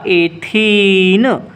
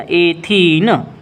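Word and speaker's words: ethene: इन लगता है, मतलब इसका नाम हो जाएगा एथीन। प्रोनाउंसिएशन को ध्यान देना, एथीन।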